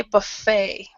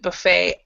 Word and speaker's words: buffet: very good okay but we we also say Buffet so buet yeah when you're talking to American englishes American uh people who speak American English we will pronounce it Buffet other people will say Buffet so we don't